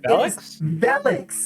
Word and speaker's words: Velix: Velix? It's Velix. It's Velix. It does Velix. not rhyme with Helix.